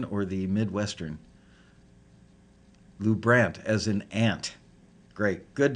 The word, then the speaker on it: LuBrant: name Lou Brandt or Lou Brant the European pronunciation or the midwestern Lou Brandt as an aunt great good to know I